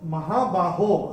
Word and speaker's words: महाबाहो: और ये जो महाबाहो आ रहा है, ओ जो आ रहा है तीसरे चरण की समाप्ति पे, ये ओ का उच्चारण यहाँ पे ओ ही रहेगा।